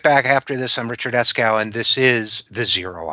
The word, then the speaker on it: Eskow: Well, thank you, because if you have a name like Eskow, you get used to mispronunciations, even though it's totally phonetic.